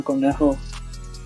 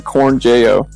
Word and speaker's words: Cornejo: Ivan Cornejo, the Spanish guy that I'm gonna go see in his concert. If you pronounced it American, it would be Ivan Cornjeo.